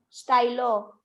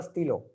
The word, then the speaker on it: stylo: Though pen will be style, its pronunciation is stylo. Spelling. STY. 1 second. STYLOS. LOS because pens है and there are two pens. This is the stilo, not stylos.